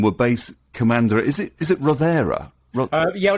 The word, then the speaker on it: Rothera: Is it Rothera? Yeah, it's pronounced Rothera. That's right. Rothera.